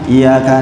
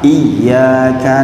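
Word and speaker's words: إياك: tes baca Al-Fatihah, bacanya iyyaka na'budu wa iyyaka nasta'in. Itu benar apa salah? Salah itu. Salah. Harusnya apa? Iyyaka na'budu wa iyyaka nasta'in. Ya di situ adalah ya tasdid, berarti double ya.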